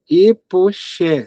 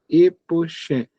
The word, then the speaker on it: epoché: quiserem pesquisar chama-se epoque é como se lê é exatamente assim como se escreve epoché c h e acento epoché e a expressão é epoque